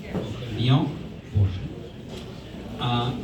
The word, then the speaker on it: Vian Borchardt: We are looking at paintings by Vian Borchardt, correctly pronounced? Vian Borchardt.